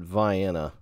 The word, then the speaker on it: Vienna: right outside of uh it looks like Vienna but they pronounce it Vienna uh man this might